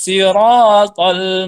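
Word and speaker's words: صراط: pemula ihdinas sirotol mustaqim ingat tok ada huruf Kok disitu Shiro Shiro opo dibaca tol Jangan dibaca ah tak ya ini dua huruf hampir sama dalam membacanya akan tetapi dua huruf tersebut adalah beda ya ihdinas sirotol pop huruf tho ini dibaca tebal ya bukan tipis tak tipis stok tebal Oke Paham ihdinas sirotol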